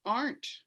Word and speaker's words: aren't: means are not and you don't pronounce that e at all pronounce it in the r and um it's just aren't yes in the pronunciation